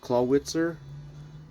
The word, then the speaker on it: Clawitzer: Matt Damon the claw clawitzer. I like just yesterday I found that it's pronounced Claw Witzer.